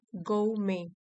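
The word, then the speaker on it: gourmet: उसके बाद है गो में, गो में। आर भी साइलेंट है, टी भी साइलेंट है।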